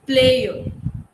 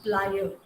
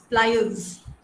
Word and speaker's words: pliers: Some say it is player. Have you heard that people saying player? No? Yes, ma'am. Yeah, it's plier. Pliers. Yeah, it's pliers.